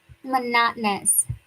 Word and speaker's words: monotonous: Monotonous. There are four O's in that word. So, we don't say mono. We stress the second syllable. Monotonous. And the o us at the end gets reduced.